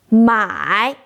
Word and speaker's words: 买: For example, don't pronounce my as my. My means by. My means sale.